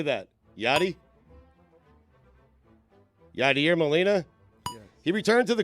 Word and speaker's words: Yadier Molina: Yadier Molina?